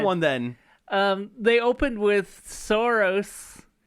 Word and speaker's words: Saros: They opened with Saros. I forget how to pronounce it. I always want to say Soros, like that guy.